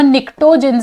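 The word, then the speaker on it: pnictogens: नाइट्रोजन वाला, नाइट्रोजन family, इसको हम निक्टोजेंस के नाम से जानते हैं। ठीक है, इसमें पी साइलेंट होता है, इसको आप निक्टोजेंस के नाम से जानते हैं।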